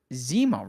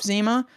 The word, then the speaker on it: Zima: We're moving on to the 4 stars here, starting with Zima, right? It's pronounced Zima? Yes.